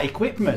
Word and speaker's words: equipment: the words like performance or for example equipment ah equipment yes yes they forget that you know that you has a sound um you know words